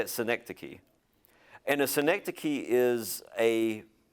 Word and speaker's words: synecdoche: movie is synecdoche that's how you say it synecdoche and a synecdoche is a is a small